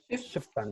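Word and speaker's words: Schüfftan: sí, solo para complementar el efecto, qué entretenido, el efecto Schuftan, ¿cómo se dice? Schuftan.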